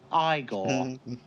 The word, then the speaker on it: Igor: must be Igor now it's pronounced Igor but they told me it was Igor well they were wrong then weren't they uh you